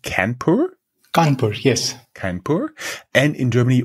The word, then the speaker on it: Kanpur: India Institute of Technology in, how is it pronounced, Kanpur? Kanpur, yes.